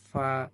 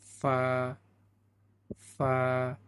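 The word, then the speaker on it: ف: হয়েছে দুই দাতের আঘাত সামনের উপরের দুই দাঁতের আগার সঙ্গে লাগাতে হবে। ফা হালকা করে বাতাস ছাড়তে হবে। তাহলে সুন্দর উচ্চারণ হবে। ফা ফা 15 নম্বর মাখরাজে আসলাম এবার।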